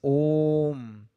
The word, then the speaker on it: Om: say is not the pronunciation pronunciation is om the euphonic combination sihi has taken place so while explaining we say it contains three syllables while we write we write only two o and m that's it with this